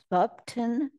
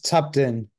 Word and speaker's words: Tupton: I'm going a Thupton. Excuse me for mispronouncing your name, but please unmute and go ahead. Hi, the name is Tupton, but this is her husband.